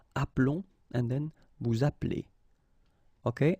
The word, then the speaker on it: appelons: that's the reason why you will get the sound appelons, okay? This E is mute or silent, appelons, and then vous appelez.